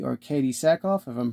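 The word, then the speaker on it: Sackhoff: character was was played by actress um Katie sovi or Katie saakov if I'm pronouncing your last name correctly and just to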